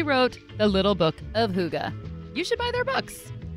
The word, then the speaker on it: hygge: He wrote The Little Book of HOO-guh.